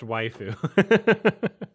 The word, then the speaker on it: waifu: really all right uh it's pronounced waifu waiu so like Japanese wife wife I'm shocked because